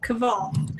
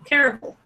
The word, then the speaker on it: Caraval: It's a Carvial. Carvial? How would you pronounce that? Caraval? Caval. Terrible. Caraval. Thank you.